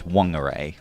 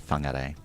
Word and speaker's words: Whangarei: also there, for example, WH in Maori is pronounced F. So you find, for example, where my parents live is called Whangarei. But for many, many years, people pronounced it as Whangarei with a W. Okay. Yeah. And now? Generally, it's seen that the Maori pronunciation is the proper pronunciation, so it's Whangarei.